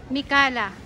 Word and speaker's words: Mikalah: Sir, paano bigkasin yan? Mikala.